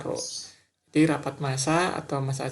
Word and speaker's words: rho: Jadi bentuknya seperti huruf P ya. Bacanya rho.